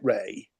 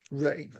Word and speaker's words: Rea: I would say David Ray, but given that Chris Rea died recently, would you say David Rea or Ray for our guitarist here? According to Wikipedia, he pronounced it Ray. Ray, sure.